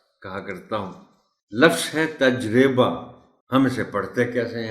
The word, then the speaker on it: تجربہ: بھی بتائیے گا کہ ہم عام طور پر اس کو تجربہ پڑھتے ہیں۔ تجربہ بالکل غلط ہے۔ تجربہ اور تجربات، یہ ہے اس کا درست تلفظ۔ بہترین، وہ جیسے اس